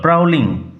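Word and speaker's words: prowling: আর প্রাউলিং about tonight প্রালিং উচ্চারণ লক্ষ্য কর প্রাউলিং প্রাউলিং এবাউট ওপেতে ঘুরাঘুরি করা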